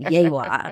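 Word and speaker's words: Yegua: And he said, Yewa.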